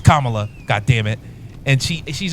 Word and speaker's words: Kamala: completely honest with I I said Cala is Kamala God damn it I